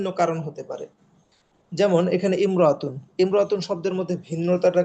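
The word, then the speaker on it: امرأة: কোন পরিবর্তন আসছে না কিন্তু ইমরতুন শব্দটা ব্যতিক্রম ইমরাতুন শব্দের আগে যখন অন্য শব্দটা অন্য শব্দ থাকবে তখন শরুর আলিফটা লেখায় থাকবে কিন্তু উচ্চারণে থাকবে না আলিফের পরে যে মিম সেকেন্ডটা আছে জজম যুক্ত মিম আছে সেটা পূর্বের হরকতের সাথে মিলে যাবে যেমন হিয়ামরাতুন সে একজন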